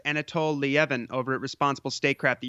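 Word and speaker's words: Anatol Lieven: No, not at the moment, except that this is there's a great piece by I think his name is pronounced Anatol Lievin over at Responsible Statecraft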